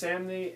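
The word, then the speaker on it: Samnee: Chris Samney and Mark Waid are back with Daredevil. Somni, it rhymes with Omni.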